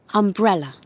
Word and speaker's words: umbrella: Umbrella. Umbrella. Umbrella. ¿Ven? Umbrella. Entonces, fíjense que la palabra se escribe con U, pero se pronuncia con A.